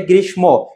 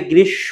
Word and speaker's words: গ্রীষ্ম: অনেকে উচ্চারণ করে গ্রীষ্ম। এটা গ্রীষ্ম হবে না। কি হবে বলতো? মফলা যদি সে থাকে তার উচ্চারণটা হয় না। এখানে হবে গৃস হবে।